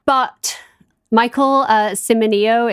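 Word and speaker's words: Cimino: name but Michael uh Simo is c i m i n o and I looked up how to say it so I believe that that is correct um oh he's cute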